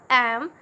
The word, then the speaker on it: MA: So if we will pronounce am, then it is starting with the sound A, so which is a vowel. So since M is a consonant, but if we pronounce it, then it is starting with the sound vowel. So we will use an here.